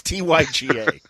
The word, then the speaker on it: Tyga: It was is it Tigars or Tigars or Tiggas? Tigga, excuse me. Boy, hey, ladies and gentlemen, how you doing? Welcome to Middle Age. What's his name? I guess it's Tigga. I believe it's pronounced Kanye. It's Tyga.